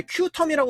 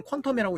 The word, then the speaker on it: Qtum: 이제 큐텀이라고 하기도 하는데 우리가 이제 발음을 할 때는 퀀텀이라고 얘기를 하죠.